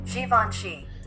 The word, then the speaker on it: Givenchy: Time for the top 3 mispronounced words in hip hop. All right, the number 3 spot we got Givenchy.